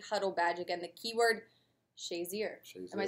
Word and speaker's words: Shazier: earn the weekly huddle bad again the keyword shayer am I saying it right yeah you're saying